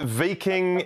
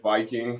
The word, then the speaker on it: Viking: to talk mate did i get that right v king fk i look at it and i see viking no you did you got it right i was i was also pronouncing it viking for a long time but uh yeah the